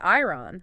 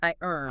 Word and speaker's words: iron: The silent O strikes again. It does. So easy to want to say ironon. But Lisa says nope. O is silent. It's I earn.